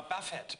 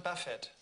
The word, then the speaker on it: Buffett: Ja, Buffett. Buffett wird das ausgesprochen hinten. Buffett. Hä? Ja, nicht Buffet, sondern Buffett.